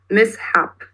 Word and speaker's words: mishap: A very interesting point two things that you have to highlight are both of the syllables so not just mishap or mishap it's mishap because mistake happens mishap so was that soble